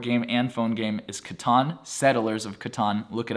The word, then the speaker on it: Catan: One of my personal favorites, board game and phone game, is Catan, Settlers of Catan. Look it up, that is how you pronounce it.